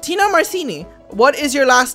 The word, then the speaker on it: Marcini: Tina Marcini. What is your last name? Marcini. The actual pronunciation is Marcini. But we say Marcini because a lot of people can't pronounce Marcini for some reason.